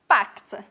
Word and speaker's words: packed: First, I get my suitcase, past simple here, packed, c-k-e-d, packed, and it's pronounced k and t, so final position.